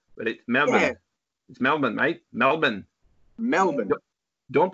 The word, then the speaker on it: Melbourne: but it smell it smell man night Melbourne Melbourne don't pronounce the are Melbourne Melbourne alright alright so excuse me Aziz if